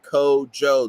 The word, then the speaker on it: Kojo: you remember it's Raider kojo if you don't say his name right code Joe the J is not silent he's not gonna call